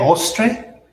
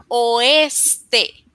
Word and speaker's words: oeste: El ostre. El oeste. Can you say it again, please? El oeste. Perfecto pronunciación.